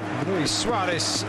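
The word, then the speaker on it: Luis Suárez: Luis Suarez, rather, in the Uruguayan pronunciation, heading back across goal, off target on that occasion.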